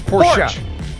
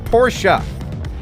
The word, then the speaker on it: Porsche: get the brits mad it's not porsche it's poor shot it's porch it's porsche yeah all right so uh